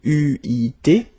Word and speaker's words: eu: It will become EU, so you will have to write this participe passé form like that, okay, but you will have to pronounce it U.